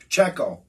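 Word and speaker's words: Pacheco: I think I think the uh Poo's at PCO that's how you say it PCO I want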